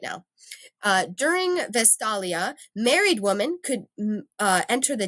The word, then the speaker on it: Vestalia: Vestalia.